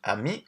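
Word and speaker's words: amie: So, ami and ami are pronounced exactly the same.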